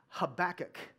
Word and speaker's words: Habakkuk: in the book of Habakkuk. Say Habakkuk. And some of you are like, you're saying it wrong. It's Habakkuk, and there's all kinds of different pronunciations. That's fine. I'm calling it Habakkuk.